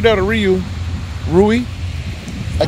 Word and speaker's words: Riu: right there to Ru ruie I not saying it wrong what I keep what's right is it Ryu it's Ru okay ruie the ruie the